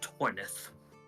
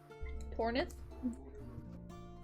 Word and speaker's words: Tornith: I am Torith. Tornith. Yes. Can you spell that for me, please, Justin? T O R N I T H.